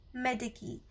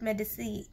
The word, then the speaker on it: Medici: actually, her name was Lucrezia de Medici, or some people call it Medici. So because the pronunciation of this proper noun depends upon your own usage of the language.